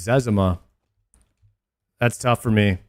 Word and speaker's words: Zezima: I always pronounce it Zezima, but apparently it's Zezima.